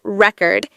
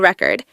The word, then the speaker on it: record: you say the word record if you stress the first syllable it's a noun like a vinyl record but if you stress the second syllable it's a verb I need to record the video see how the meaning